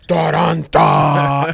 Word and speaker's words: Taranta: I mean, I don't add like the rolling R, but I love it.